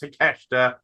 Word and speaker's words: Takeshita: Before anyone asks, I know it's pronounced Takeshita.